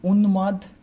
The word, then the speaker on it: উন্মাদ: আমরা বলি না উন্মাদ, উন্মাদ মানে পাগল, উন, তারপরে ময়কার মাদ, উন্মাদ। ওকে, উচ্চারণটা কেমন হবে তাহলে?